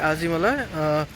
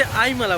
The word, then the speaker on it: Azhimala: लोग यूट्यूब पे भी आजीमला और आजीमाला दोनों बोलते हैं, आजीमाला या आजीमाला, लेकिन एक्चुअल मलयालम में क्या बोलते हैं पता है? वो इसे आईमला बोलते हैं।